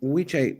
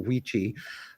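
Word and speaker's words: wicce: Wiche is how you say it, or Wichi, when you're talking about a woman.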